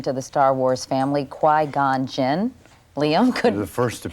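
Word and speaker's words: Qui-Gon Jinn: Qui gone Jen. Quai like in Quiet. Yeah. Gone as in Oh, he's gone and Jin as in tonic.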